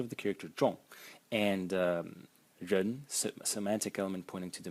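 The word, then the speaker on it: 人: And the semantic element is this character over here, pronounced ren, ren, and it's a person, person.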